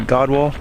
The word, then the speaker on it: gadwall: I've only ever read it and heard it pronounced like Godwall.